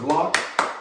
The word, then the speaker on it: Locke: uh officer lock with an e at the end however i was just told that the e is silent okay very silent so